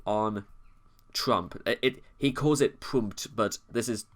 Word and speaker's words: Pmurt: And Trump, spelled backwards, Pmurt, with rhymes with hurt.